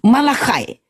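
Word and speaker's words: Malachi: mau sebelum mau namanya malahai malahai kata orang Yahudi di sini orang Yahudi Amerika membacanya Malakai tahukah teman-teman di Indonesia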